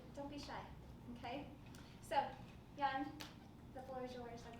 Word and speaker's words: Jan: So, Jan Almasy, looks like Jan, pronounced like you're about to fall asleep.